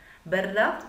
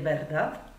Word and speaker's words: verdad: Aussprachemäßig ist es ein bisschen schwieriger für uns. Es ist ein Wort, was auf D endet. Also wir deutschsprachige Muttersprachler neigen dazu, ein T zu sagen. Sag bitte nicht verdad.